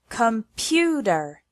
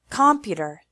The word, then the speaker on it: computer: Take the word computer as an example. It has three syllables and the stress is on the second one. computer If we put the stress on the first or third syllable, the word sounds completely different.